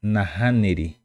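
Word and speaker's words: nahániri: nahaniri no nahaniri nahaniri esta la letra h tiene el sonido de J como si fuera J del Castellano del español Por eso pronunciamos nahaniri nahaniri hani nahaniri ahora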